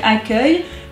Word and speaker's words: accueil: Eh oui, parce que accueil, 2-C-U-E-I-L. Eh oui, on a juste inversé le U et le E pour ne pas qu'on prononce accueil. Bah oui, parce que c'est E, ça fait se.